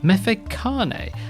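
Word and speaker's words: Mfecane: And the third thing is I've mispronounced a field guide. It's Mefekane, and it is made by NHP Shaka.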